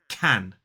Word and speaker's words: can: the strong form so the strong form of this word is can now let's talk about